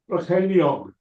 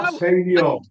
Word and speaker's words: Brycheiniog: Brycheiniog. Right, excellent. What did he say? Did he say Ceiriog? No. Brycheiniog.